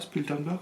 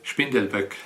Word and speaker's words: Spindelböck: C'est ça, Spildenberg, on prononce comme ça? Ja, das ist richtig, Spindelböck. Ah, c'est mieux comme ça.